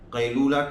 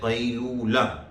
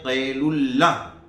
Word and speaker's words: قیلولہ: پہلے توجہ کرتے ہیں۔ لوگ اس کو بولتے ہیں قیلولہ، عبداللہ کی طرح، قیلولہ کہ بھائی قیلولہ